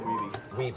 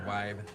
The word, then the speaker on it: Wiebe: Look, most Twin Galaxies call me Weeb, so. Okay. And that's a common mistake. Either that or Wibe. But at least you got the correct pronunciation. Weeby is who I wanted